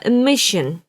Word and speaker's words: emission: 이렇게 발음하시면 안 돼요. emission이 아니라 emission. 미션이 아니라 mission. 이렇게 시옷 받침 같은 소리가 살짝 들려야 돼요. 쉬 발음이 앞에서부터 벌써 시작이 되기 시작하기 때문에.